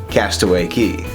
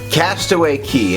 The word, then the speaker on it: Castaway Cay: Castaway Cay. Castaway Cay, and yes, it is spelled like that but pronounced Key, is Disney's private island in the Bahamas.